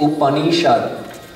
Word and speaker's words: Upanishad: How do you pronounce it? Upanishad.